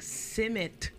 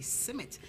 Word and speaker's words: Smith: You know, when I was in school in Jamaica, it's funny, they always call me Simit. And I didn't know the difference. And then I came here and it's Smith.